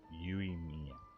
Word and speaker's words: Yoimiya: Yoimiya.